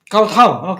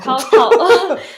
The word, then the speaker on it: Kowtow: Kowtow. Kowtow. Because Kowtow it's means spelled like KOWTOW.